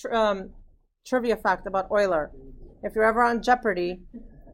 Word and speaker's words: Euler: the name is spelled it's not Euler that's coiler he was not Dutch German maybe right there on there he's Euler so here's the okay fun fact about your um trivia fact about Euler if you're ever on